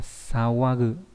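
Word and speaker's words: 騒ぐ: Cái này đọc là sawagu, có nghĩa là làm ồn.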